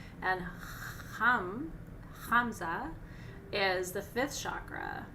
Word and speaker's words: ham: road chakra mantra is ham remember i told you it sounds like ham but it's not it's it's spelled h a m but it's hum and keep in mind